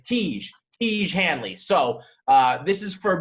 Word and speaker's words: Tiege Hanley: slash j and really it's pronounced like siege like tiege tiege hanley so uh this is